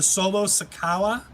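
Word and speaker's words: Solo Sikoa: then we have the solo sakawa i believe is how wade barrett pronounced it i believe it's the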